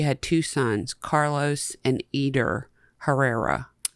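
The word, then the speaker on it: Eder: two sons Carlos and eer Herrera eer e d e r okay like Edgar but without the G I guess eer that's how it's pronounced I don't so I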